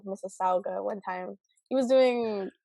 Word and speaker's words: Mississauga: uh all the way from uh how you pronounce it Mississauga Mississauga Ontario Canada right okay all right got it